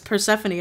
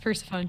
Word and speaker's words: Persephone: heard it they're like why are you calling her Persephone it's Persephone I'm like with dad's person Stephanie it's spelled Persephone Persephone yeah I always thought it was pronounced first phone to because I'm I